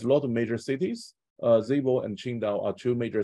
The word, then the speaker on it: Zibo: But this 22 years in China, I lived in this Shandong province, both Zibo, and actually the correct pronunciation is Zibo.